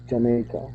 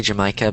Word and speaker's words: Jamaica: Jamaica. Yeah. A lot a lot of people say Jamaica, but it's pronounced Jamaica. Jamaica.